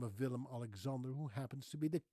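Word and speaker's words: Willem-Alexander: She's married to a guy by the name of Villim Alexander who happens to be the king of the Netherlands. Yes, she is Queen Maxima, married to King Villim Alexander.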